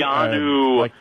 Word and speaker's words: Keanu: Is it Keanu or Keanu? Keanu. Yes, Keanu, the story of the